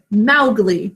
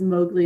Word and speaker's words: Mowgli: Everyone says Mowgli instead of Mowgli. But it makes sense because there's that ow, cow in the snow phonogram. Mowgli. Can you imagine if everybody just went around saying Mowgli?